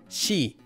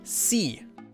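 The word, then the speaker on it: 시: However, if we combine this consonant with the vowel e, we get a different result. She. Whenever this consonant is used with the vowel e, it becomes she and not c.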